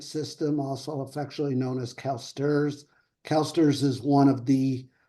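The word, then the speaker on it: CalSTRS: State teachers retirement system also affectionally known as calsters calsters is one of the largest global Pension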